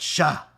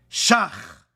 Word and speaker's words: Shach: the old man, says, "It's not Shah. His name is Shach after my rebbe, Rav Shach. But since he doesn't know how to pronunciate the chet, he says, "Shah." But he's really Shach.